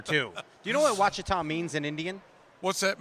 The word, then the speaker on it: Ouachita: What my deal is everybody that what I get the biggest kick out of is listening to people all over the country pronouncing it. Ouachita? Yeah. Ochita, Achita. Ouachita.